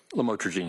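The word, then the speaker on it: lamotrigine: about the u the lam otherwise known as lamatroine. Did I pronounce that right? Lamotraine.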